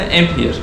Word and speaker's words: Emphair: MP Hair diye mi telaffuz ediliyor? MP Hair mı deniyor? Amp Clinics. Amp Clinics'in içerisinde Amp Hair. Amp Hair. Aynen.